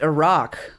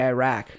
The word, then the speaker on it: Iraq: I take out my AirPods, and the first thing I hear is him saying, yeah, it's actually pronounced Iraq, but Americans say Iraq.